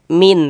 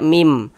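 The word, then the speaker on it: ميم: Jangan dibaca min, tapi dibaca mim.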